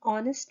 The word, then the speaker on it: honest: honest he is an honest man over here you can see again when we pronounce this word we use o honest not her honest